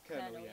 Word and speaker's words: colonel: Is it Colonel? Colonel, yeah. Yeah. It threw me with a col, C-O-L. I expected it to be K-E-R.